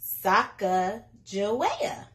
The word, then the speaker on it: Sacagawea: has a fancy name Sacagawea can you say it like this Sokka Joetta later miss glass has